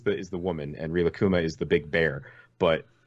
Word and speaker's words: Rilakkuma: it literally up in front of me it's Rilakkuma so it's RI la kku ma Rilakkuma okay and car-boot is spelled just like Kairos you're essentially well kuma